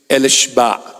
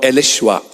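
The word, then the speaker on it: אֱלִישֶׁבַע: The name Elizabeth and the original name, which is Elishba or Elishwa. That's the Hebrew Aramaic pronunciation.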